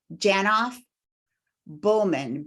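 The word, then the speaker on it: Janoff-Bulman: of shattered assumptions I always feel like I mispronounced her name Ronnie janoff Bowman b-u-l-m-a-n okay thank you I just want to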